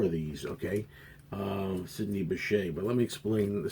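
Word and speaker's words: Bechet: He goes, "It's Bashet. It's not Becket."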